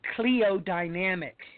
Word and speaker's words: Cliodynamics: It is called Cleodynamics. Now, it's spelled Cliodynamics.